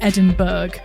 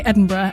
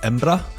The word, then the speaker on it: Edinburgh: But I spent a lot of time telling Americans that it's not Edinburg. Indeed. Indeed. Uh, English people say Edinburgh and you can hear James said in a second. Um, James. Yeah. So, most Scottish people say Edinburgh, but if you're really truly a local, you say something more like Embra.